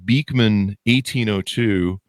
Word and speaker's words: Beekman 1802: Anyway, so now you guys have created, I'm looking at your website, Beekman 1802. Am I pronouncing that right?